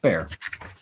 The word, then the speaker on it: Bexar: bear hello hello hello named after a city in texas which is pronounced bear wow that's real like